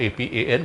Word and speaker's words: Apan: So first we look at the Apan Mudra or Apan Mudra, A-P-A-A-N or A-P-A-N, whichever way you want to spell it.